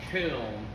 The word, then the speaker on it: Köln: Oh, Okay, where in German it's called Köln.